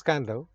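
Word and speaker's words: Kadavu: On the island of Kandau, pronounced as Kandau, one of these larger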